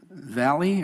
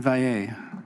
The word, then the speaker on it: Valle: Jolene Valley, or Val? Sorry for the mispronunciation. Did I get it right? No? Thank you. Jolene Valle.